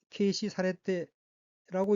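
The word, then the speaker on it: 軽視されて: 첫째 줄 오른편 두 번째 어귀는 한자가 한국어로 경시이고 각기 가벼울 경 볼시자로 되어 있고 일본어로는 케이시 사레테라고 읽으며 케이시 사레테는 경시하다는 뜻인 타동사 케이시스루의 수동형 케이시 사레루 경시되다의 태형으로 케이시 사레테는 경시되고라고 해석합니다.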